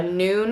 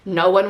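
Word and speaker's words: Nuun: drip drop or a noon i think is how you say it like n u n n anyways i'll pop everything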